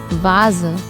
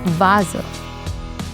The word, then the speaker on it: Vase: The letter V is pronounced as V in German. Once again, V. And V steht für Vase.